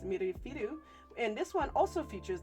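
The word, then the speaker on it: ミルフィーユ: So in Japan, this one is pronounced mirifiru.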